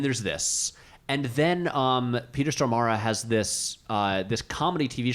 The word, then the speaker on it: Stormare: Stormare, yeah. Is that how you pronounce it? Stormare, yeah. Okay, I've been saying Stormare all these years, and I feel like an idiot now. It's okay, man. Stormara?